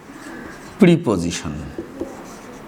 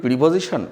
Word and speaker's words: preposition: এখন এটিকে আর অ্যাডভার্ব বলা যাচ্ছে না, এটাকে প্রিপজিশন। আমরা তো উচ্চারণ করি প্রিপজিশন, আসলে ইংরেজরা উচ্চারণ করে প্রেপজিশন।